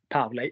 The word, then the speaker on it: parler: So they either end er, and we don't pronounce the r. So manger, er, parler, er, or they have